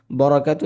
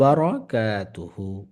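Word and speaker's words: بركاته: হবে বরাকা না বারাকা শোনেন আসলে আরবিতে মানে জবরের যে উচ্চারণটা ফাতহার উচ্চারণটা এটা বা হয় ওয়া বারা বারা এরকম হ্যাঁ বারাকা ওয়া বরাকাতু এরকম হবে না বরাকাতু এরকম অনেকে হয়তো উচ্চারণ করতে এরকম বলে ফেলে কিন্তু ওরকম না উচ্চটা ওয়াব বারাকাতুহু ওয়া বারাকাতুহু ঠিক আছে মাশাল্লাহ মাশাল্লাহ জাযাকুমুল্লাহ আচ্ছা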